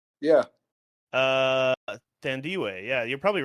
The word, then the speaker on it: Thandiwe: Thandiwe. Oh, Thandiwe.